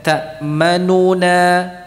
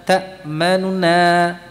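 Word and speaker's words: تأمنا: Jadi tidak ta'manuna, nuna, enggak. Tapi apa? Nuna, ta'manuna gitu. Ya. Jadi antara huruf yang sebelumnya dan setelahnya itu lebih cepat nunya. Jadi harakatnya tidak sempurna.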